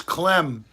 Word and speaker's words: Clem: Trouble with the second one is Clem rhymes with phlegm.